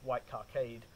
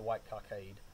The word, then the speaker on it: White Cockade: the british uh played the white cockade or white kakad however you don't pronounce it but i think white cockade is usually how we say it anyhow uh there may